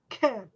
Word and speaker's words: can: the top right corner can often has a weak pronunciation with a short quiet vowel sound when another word comes after it it sounds like ken can it's got a real